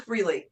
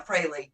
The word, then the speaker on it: Frehley: so he's with Ace fre right now Frey I'm sorry I always say it wrong it's not Frey it's Frey Ace Frey Andre Andrew Andrew